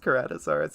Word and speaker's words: Ceratosaurus: criticized how I pronounce Ceratosaurus, but it is pronounced Ceratosaurus.